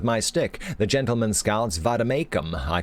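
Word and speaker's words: vade mecum: Pronounce Vademecum. Vademecum.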